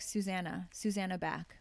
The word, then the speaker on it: Zsuzsanna Bach: But next to the director was Zsuzsanna Bach. Wow, Zsuzsanna that's Bach. a mouthful right there. Yeah. But you should see the spelling. So it's pronounced like, it's like Susanna Bach, basically.